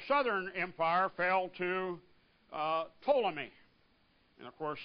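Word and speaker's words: Ptolemy: empire fell to uh toomy and of course it's p t o l m y but the p is silent so you come up with toomy now of all of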